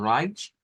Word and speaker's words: Reich: Vamos a pronunciarla como Reich. Es como lo que hemos dicho que la EI, ¿verdad? Se pronuncia como I, ¿verdad? Y luego esa CH que va a sonar como una sh. Es una especie de SH-CH, ¿verdad? Una combinación de ambas, algo como medio entre ambas.